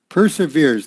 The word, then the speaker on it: persevere: that that's the noun but the verb is is per severe persevere yeah pers persevere so like this per per se veer and it's the same